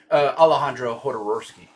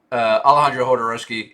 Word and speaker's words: Alejandro Jodorowsky: Alejandro Jodorowsky, I believe is the pronunciation.